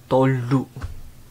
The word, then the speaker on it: Tolu: Tolu. Tolu. It's T-O-L-U. L-U behind, L-U, is not sounds lu, but it sounds lu.